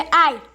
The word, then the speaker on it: I: A letra I no inglês se pronuncia I. Bem diferente. I. Tipo quando você se machuca.